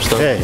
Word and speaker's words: Stirling: S-T-I-R-L-I-N-G. You say Stirling. It, yeah, you say it like the pound, Stirling.